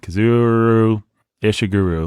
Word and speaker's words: Kazuo Ishiguro: Kazuo Ishiguro. There you go. It's kind of like it's spelled.